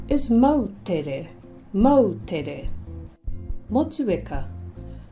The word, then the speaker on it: Motueka: Motueka. Move away from Motchewayka and say Motueka.